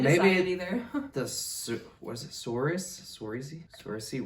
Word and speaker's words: Saoirse: Saoirse Ronan. How you say it is not how it looks at all.